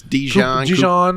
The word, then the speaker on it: DeJean: Cooper DeJean could have been a Packer. Yeah, I know. I don't know how you say it. It's Dijon. Cooper DeJean, Dijon mustard.